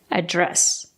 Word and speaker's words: address: first syllable address or you can stress the second syllable address both are correct what's